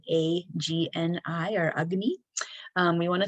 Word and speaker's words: agni: we want to feed our digestion or our agni this is a sanskrit word that's called a that's spelled a g-n-i or agni we want to think of it